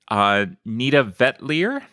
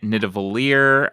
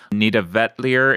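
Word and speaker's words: Nidavellir: I got Gift of Tulips played, Nita Vetlier, which I was always pronouncing it Nidavalier, but apparently Nita Vetlier is the actual pronunciation, of the word.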